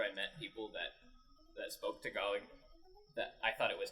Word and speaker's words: Tagalog: It wasn't until after I met people that spoke Tagalog that I thought it was Tagalog. Yeah. Until I heard it the first time. It's spelled Tag-A-Log, but it's pronounced Tagalog.